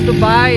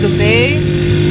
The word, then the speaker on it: Dubai: united arab emirates um dubai is actually not pronounced dubai it's pronounced the bay but for the sake of everybody being confused